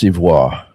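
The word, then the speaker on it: Soivohle: This is a house called It's pronounced Civois and it's a house by Liz Zorn. This is the first one that I ever received. Art in a bottle. Yeah. It's called Civole.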